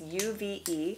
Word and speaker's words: UV Beauty: or five of these these are by uv beauty i believe is how you say it it's uve yes they are vegan and